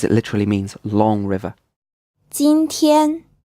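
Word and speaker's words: 今天: literally means long river Xin Tian this is pronounced with two first tones it means today bei deal this is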